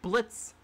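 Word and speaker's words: Blitzø: And we now know the backstory between Luna, Solas, and Blitz. The O is silent, I remember that.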